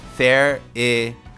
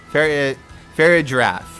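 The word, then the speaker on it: Farigiraf: I think it's pronounced Fair-I-Graph. Oh, okay. Giraffe? Fair-I-Giraffe. Right.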